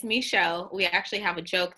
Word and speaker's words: Micheaux: festival get started so you are saying it correctly it's misho we actually have a